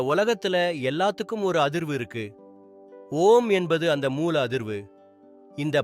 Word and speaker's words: ஓம்: ஓம் அப்படின்னு சொல்லும்போது அ, உ, இம் என்ற மூணு எழுத்துக்களை உச்சரிக்கணும்.